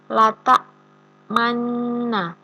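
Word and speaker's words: لَا تَأْمَنَّا: Pada lafadz lata manna ini cara membacanya, pada lafadz nanya ini kita seperti menahan suaranya dhammah dan nun mati, seperti ada nun mati yang bertemu nun dhammah yang bertemu dengan nun.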